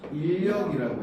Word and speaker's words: 인력: 끌어당기는 힘이니까 얘는 인력이라고 해요. 아. 얘도 마찬가지야. 인력, 이건 발음하기 힘드니까 인력이라고 발음하면 돼요.